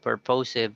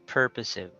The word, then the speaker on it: purposive: And we have, what's our subject? Purposive. Okay, purposive communication. So it's not purposive, but it's purposive.